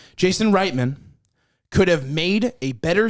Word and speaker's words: Reitman: would be uh jason rightman genius anyway my point is jason reitman is it really right it's pronounced right man jason reitman could have made a